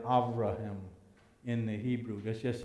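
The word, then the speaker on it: אברהם: the letter b and the a is like a short a so it's more like avraham in the hebrew let's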